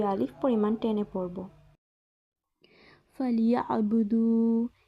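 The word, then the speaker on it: فليعبدوا: ফালিয়াবুদু, এখানে ইয়া আইনকে আমরা গলার ভেতর থেকে উচ্চারণ করব।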